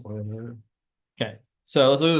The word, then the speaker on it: Euler: will talk about some Oilers method it's not pronounced uler by the way it is pronounced oil if anyone's pronouncing it uler they wrong it's the guy's name it was pronounced oer okay so let's look at this next one